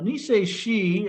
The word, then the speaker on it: Niseishi: So Niseishi, actually, if you pull the characters up in Okinawan, they are exactly the same characters as Nijushiho. So it's just the Okinawan pronunciation versus the Japanese pronunciation.